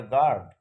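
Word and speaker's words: guard: তারপরে গার্ড, এখানে ইউ নেই, ইউ এর উচ্চারণ হচ্ছে না, এর উচ্চারণ হচ্ছে গার্ড।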